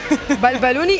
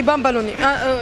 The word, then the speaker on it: bambalouni: Deux prononciations. Balbalouni et bambalouni.